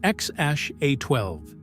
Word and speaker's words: X Æ A-12: a secret code right it's pronounced xash a12 and every bit has